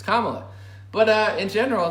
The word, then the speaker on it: Kamala: or kamala i'm sorry it's racist and not pronounced named kamala kama it's kamala but uh in general